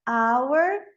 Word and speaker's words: hour: O H, como português, às vezes ele é pronunciado, às vezes não, como na palavra hour e honest.